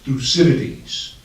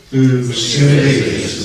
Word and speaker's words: Thucydides: So, the great thinker is Thucydides, and I'm glad that Adam pronounced his name correctly. Just so that for sure you learned something this morning, in unison, 1, 2, 3, we're going to say his name. Thucydides.